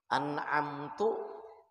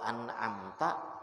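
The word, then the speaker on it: أنعمتَ: Yang kelima, jangan ada salah baris yang merubah makna. Siratal ladzina an'amtu alaihim. Meskipun barisnya itu cuman yang salah itu baris, tapi merubah makna, maka kada sah. An'amtu artinya aku memberi nikmat. Kalau an'amta, engkau memberi nikmat, ya Allah maksudnya.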